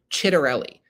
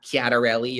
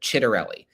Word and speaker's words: Ciattarelli: to say his name, it is Jack Ciattarelli. Not Chiatarelli or Cheatarelli. He talks about his Italian upbringing a lot, and that is reflected in his name. I'm a little more understanding of people who don't know how to instinctively pronounce this one, but Ciattarelli. That's 2 T's, 1 R, and 2 L's.